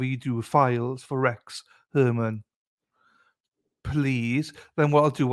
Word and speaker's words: Heuermann: Before we hear a video stating his name, I'm going to say it's pronounced Herman. Rex Herman.